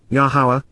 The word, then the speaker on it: Yahowah: message with authority reveals foretells and predicts yahua yahuwah the proper pronunciation of yahuwah our lower God as directed